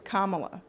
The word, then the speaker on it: Kamala: It's Kamala. Okay. Like a comma.